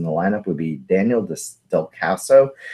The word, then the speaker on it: Descalso: or 6th in the lineup, would be Daniel Descalso.